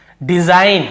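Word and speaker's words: design: पहले जी तो देखिए डिजाइन हम इसे क्या पढ़ रहे हैं डिजाइन डिजाइन ट डिजाइन ग ऐसे ग को नहीं पढ़ डिजाइन ग ऐसे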